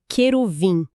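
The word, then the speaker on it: כְּרוּבִים: A pronúncia hebraica é queruvim e eles são descritos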